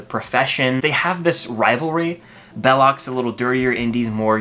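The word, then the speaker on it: Belloq: They call him Belosh. Belloc.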